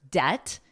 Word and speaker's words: debt: Now notice the B is totally silent in the word debt. You don't hear it at all.